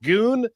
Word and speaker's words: Goon: devin what's my name your name is goon right goon it's pronounced goon you sounded like elmer